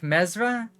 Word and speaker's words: Mizraye: Mizraye is pronounced like Mezra?